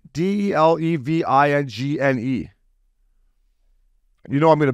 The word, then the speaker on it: Delevingne: Delevingne Delevingne.